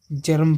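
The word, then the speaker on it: germ: हर जैसे य देखिए जीई आर एम इसको क्या पढ़ेंगे जर्म पढ़ेंगे जर्म इसको गर्म नहीं पढ़ेंगे जर्म पढ़ेंगे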